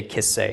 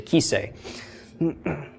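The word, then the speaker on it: כסא: it's a throne but it's hard to say kiss say it's easier to say key say okay so but it doesn't the way it's spelled doesn't have a Yoda in it it just has a Herrick okay so that's the one you'll probably catch me on mispronouncing but whatever the case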